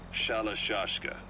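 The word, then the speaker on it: Shalashaska: somewhere along the line, Shashka got stuck on the end of Sharashka. The guerrillas were using the name amongst themselves, and by the time I got to hearing about it, the pronunciation had wound up as Shalashashka.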